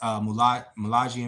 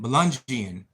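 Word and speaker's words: Melungeon: Jeremy, my maternal grandpa's whole side, Southwest Virginia, have mixed Malagian mountain. What's it? What? How do you say that? Melungian.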